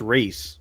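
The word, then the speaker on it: Rhys: I kind of hate when uh cuz the character this character's name is Rise, but it's spelled R H YS. I kind of hate that. That's that's pronounced Ree.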